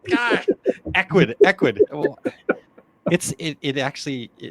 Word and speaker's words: Ecwid: lot of work with Ecwid. God, Ecwid. Well, it actually, if I just said it phonetically, it would actually be right. Ecwid.